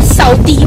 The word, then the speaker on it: Southi: mouth-watering guys it was really very nice it's pronounced at Southie by the way this season right now just